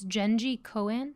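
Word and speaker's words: Jenji Kohan: answer I thought that you'd know how to pronounce it so it's it's Genji Cohen oh Genji cone okay is that right yeah that's familiar now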